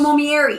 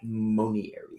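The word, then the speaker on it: monnieri: Bacopa Momieri. Am I saying it right? Monieri.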